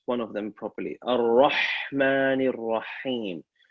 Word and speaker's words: الرحمن الرحيم: Ar-Rahmani Rahim. First ha should sound like the second ha at the same time.